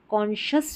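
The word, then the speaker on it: conscious: जब हम साइंस की स्पेलिंग लिखते हैं SCIENCE, साइंस, साइंस, तो यहाँ पर SCI को स पढ़ते हैं, लेकिन देखिए कॉन्शस में यहाँ पर हम श पढ़ रहे हैं SCI को।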